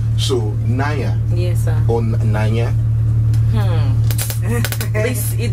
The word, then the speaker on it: Nanya: She was teaching me how to pronounce her name. So Nanya.